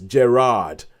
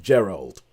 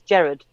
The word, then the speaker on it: Gerard: ps his name is gerard not gerald yeah so so that's our story apparently his name is gerard butler not gerald butler i think you pronounce it the scottish law which is jared you just said jared